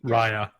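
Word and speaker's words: Raia: Raya. Yes, Raya. Like Gaia.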